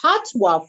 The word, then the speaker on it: Pattoa: So it's Patty without the Y and OA for OA. Yeah, quinoa, the end part of quinoa.